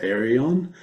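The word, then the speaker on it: Ayreon: I was going to say like I have dipped into, is it pronounced Arion? Yeah, The yeah.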